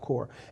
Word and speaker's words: Corps: And I just learned today that that S is silent because I kept saying Job Corps. So if you're doing that too, stop it, right?